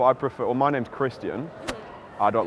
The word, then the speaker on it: Kristian: I prefer Kristian because that's the name that my mum gave me, and I want to honour the full 3 syllables, Kristian.